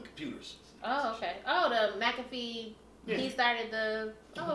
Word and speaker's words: McAfee: um john say his last name for me mcafee oh yeah magazine all right i said it